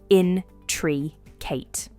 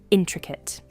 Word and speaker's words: intricate: The pronunciation is in-truh-kuht, intricate.